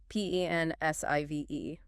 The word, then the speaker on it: pensive: Pensive. Pronunciation. Simple one. Estrumptive, pensive. Stress on the first syllable.